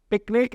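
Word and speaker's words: PQNK: नाम से जानते हैं प्रोनाउंसड पिकनिक एज इन हम पिकनिक करने जा रहे हैं बट इसकी स्पेलिंग पी क्यू एन के होती है पायदे काश्तकारी अंग्रेजी में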